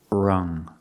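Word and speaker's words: wrung: the past rung out we see the U making the short sound like cup and up uhuh relaxed sound uh R rung rung out in the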